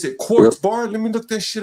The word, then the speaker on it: QRTZBAR: Quartz Bar.